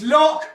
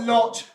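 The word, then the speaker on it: Loch: you're a Salesman it's lock not loot he's in sure that he say it's lock not Lo please Ure that you say it right if someone please tell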